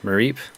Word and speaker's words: Mareep: Mareep, there you go. The Is sheep. that how you say it? Yeah, because it's like sheep, Mareep.